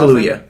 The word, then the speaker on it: Kaluuya: Daniel, how do you pronounce that? Kaluuya. Kaluuya?